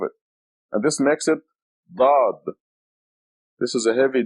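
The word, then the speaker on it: ضاد: Dad. Da. As a matter of fact, Arabic is the only language in the world that has this letter, a heavy D. They call the Arabic language the language of the Dad, because it is the only language that has this heavy D, Dad.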